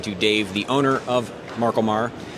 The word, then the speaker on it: MarColMar: Dave the owner of Marco Marr and uh you said it right fantastic okay I wasn't